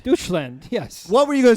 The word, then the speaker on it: Deutschland: You say I thought it was doucheland. Deutschland, yes.